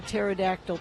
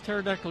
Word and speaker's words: pterodactyl: I thought it was pterodactyl go to the bathroom. Was that it? No, Maybe it has that was it. No, it has to be pee. Because the P is silent.